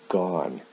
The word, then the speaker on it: gone: Now, in the past participle, the spelling of the ending is the same, but the pronunciation is different. O-N-E with do is pronounced done. O-N-E with go is pronounced gone.